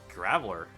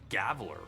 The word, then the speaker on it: Graveler: out too gravel oh graveler oh geez i'm pronouncing it wrong that pronounced it like gaveler why did i do